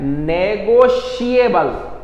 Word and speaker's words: negotiable: अब ये देखिए स्पेलिंग, इस शब्द की स्पेलिंग और इसके प्रोनाउंसिएशन में थोड़ा सा फर्क है, थोड़ा ध्यान दो। NEGOTIABLE, TIABLE, TRI इसमें, लेकिन इसका प्रोनाउंसिएशन क्या है? नेगोशिएबल, नेगोशिएबल अर्थात आपस की